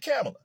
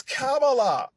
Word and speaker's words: Kamala: Everybody say, there's always different pronunciations of her name, but people kind of settled on Kamala recently. So he said Kamala. So Angela and Lauren, who was in the studio, they both said, it's Kamala.